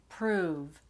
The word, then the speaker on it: prove: The vowel sound, right? Prove, that's longer. You're saying it for a longer length of time. And then proof is a lot faster. Proof, prove, proof, okay? And then the other difference is the ending. Prove, has the V ending, Proof has the F.